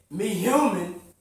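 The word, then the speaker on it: Mehuman: He commended me human. So how you pronounce it?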